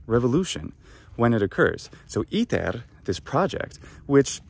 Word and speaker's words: ITER: when it occurs so iter this project which how do we pronounce it in english i'm saying pronouncing it like the latin word it's meant to imitate well in english i've